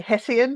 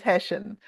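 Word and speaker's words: hessian: With flyaway, it was hesshen, which all the English then yell at me for not saying hessen, but the Australian pronunciation is hesshen, which in America is burlap.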